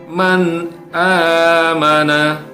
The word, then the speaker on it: man amana: Ya, misalnya di dalam kata man amana. Ya, bacanya huruf hamzahnya, ya, atau huruf nun matinya ini harus dibaca dengan jelas karena dia bertemu dengan hamzah. Man amana.